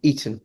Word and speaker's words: Eton: How do you pronounce that school? Eton.